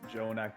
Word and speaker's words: Jonak: Mildly dazed, Jonak, not J Jon.